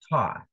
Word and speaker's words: Thoth: Thoth is pronounced Thoth.